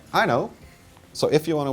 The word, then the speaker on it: Aino: This is my Aino, A-I-N-O, but you say it like I know.